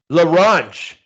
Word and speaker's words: La Ronge: Now how do you pronounce La Ronge? Am I saying it right? LaRange. La Ronge.